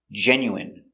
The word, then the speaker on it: genuine: intestines more than one genuine famine remember it's countable a famine famine and Jasmine so all of these words are pronounced with the in sound for the in turbine